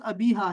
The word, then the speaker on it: ابیحا: لفظ ابیحا کا صحیح تلفظ ابیحا ہے، اس طرح کا ہونا چاہیے. ٹھیک ہے، ابیحا یعنی آخر سے پہلے حرف پر ہا کے بجائے ہا لگائیں چھوٹا، اور آخری حرف میں ہا بھی ہے.